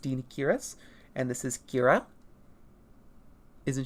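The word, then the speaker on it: Deinocheirus: And then we have the Dinichirus, which is the intended pronunciation. Once again, a lot of people will say like Dinachirus or something. It is pronounced Dinichirus.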